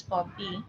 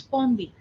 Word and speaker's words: Pompi: So my name, which is actually pronounced as Pompi, it becomes Pombi. But the second pa sound becomes a ba for them too.